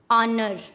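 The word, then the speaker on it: honor: जब ओ से पहले एच आता है तब हमेशा एच साइलेंट होता है। जैसे ऑनर, ऑनेस्ट, आवर, इको।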